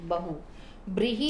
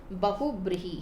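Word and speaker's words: बहुव्रीहि: बेटा मैं इसको इन शॉर्ट में बहु कहती हूँ, बहु। ब्रीहि आप अपने आप यूज कर लेना, ठीक है? वैसे प्रॉपर जो है इसका प्रोनाउंसिएशन बहुब्रीहि है, जिसका सही से उच्चारण कह सकते हैं बहुब्रीहि समास।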